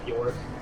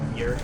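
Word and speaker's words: Björk: artist york is from some say york i think it's actually pronounced beer wonderful experimental here i'm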